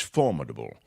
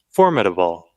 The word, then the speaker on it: formidable: I put the accent on the mid. You put the accent on the 4.